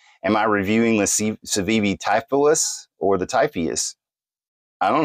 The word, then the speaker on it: Typhoeus: uh the word tyus actually and it is pronounced typhus it uh tyus was the son of Gaia